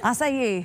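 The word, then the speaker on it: açaí: We are in the kitchen to make an acai berry bowl. Did I say that right? Acai. Acai. I know. It's harder to pronounce than it looks.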